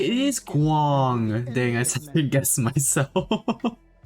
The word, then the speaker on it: Guang: It is Guang. Dang, I second guessed myself. Dang, I got the pronunciation actually correct on my first try.